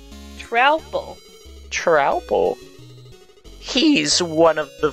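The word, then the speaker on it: Troupple: Half trout and half apple, pronounced like mouthful. Trouble.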